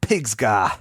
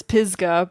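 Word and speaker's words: Pisgah: to the top of piga it's pisga PGA yeah okay I put extra G in there um to rock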